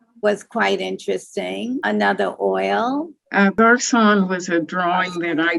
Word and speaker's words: garçon: Is it supposed to be French? Yes. Oh, yes. It's Garçon. So would that be Garçon? It is Garçon.